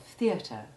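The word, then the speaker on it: theatre: pale instead of pale the sound of the re ending of theater is exactly the same as if it had been spelt with er at the end which is how the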